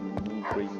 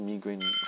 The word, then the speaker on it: migraine: It's pronounced migraine. So, a migraine, you say? You pronounce it as migraine, but if you're American, you pronounce it as migraine. And in my country, even though we follow the British way, we actually pronounce it as migraine because, I don't know, people just, I guess because it sounds nicer, I guess.